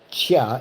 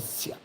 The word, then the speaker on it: Ciao: told me, well, yeah, because it's like Chow, like the way your name is spelled, CIAO, they think you're Italian, so they say Chia instead of Sia.